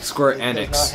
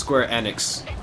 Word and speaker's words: Square Enix: playing that square enix squirt annex it's pronounced square enix i don't care because